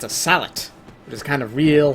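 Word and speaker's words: sallet: Or a salet, if you don't pronounce a T for whatever reason. I'm at least recently sure you're supposed to pronounce the T. I'm not sure if it...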